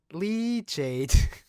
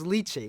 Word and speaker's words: lychee: my mark lead shade leachate good job thank you google so we are i so it's lychee we are pronouncing it correct yeah uh this record's